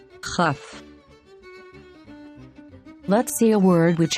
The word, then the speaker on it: כ: Kaf, Kaf, But when there is no dot inside, we pronounce it with a guttural sound. Chaf, Chaf.